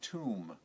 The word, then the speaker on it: tomb: another word for gravest tomb t om be be careful the Bee is silent t OMB to meet